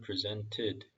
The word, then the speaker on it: presented: 빨리 읽으면은 이 T 발음이 무음이 됩니다. Cain presented 이렇게 돼요. 근데 요것만 읽게 되면 presented some of his crops as a gift to the Lord. When it was time for the harvest, Cain presented some of his crops as a gift to the Lord. 여기서 굳이 티귿 발음 넣으셔도 되고요. 안 넣어도 됩니다.